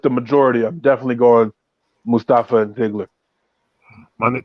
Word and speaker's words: Mustafa: I'm definitely going Mustafa and Ziggler. Man, you still pronouncing his name like Michael Colt, bro. It's Mustafa.